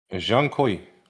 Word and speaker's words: Zhong Kui: Jean Koi, he nailed it.